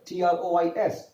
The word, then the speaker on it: trois: Here, T-R-O-I-S, trois. S is not pronounced.